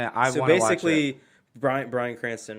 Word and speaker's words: Bryan Cranston: Bryan Cranston, right?